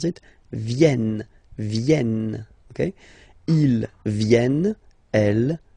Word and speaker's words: viennent: You will have to pronounce this like okay? Ils viennent.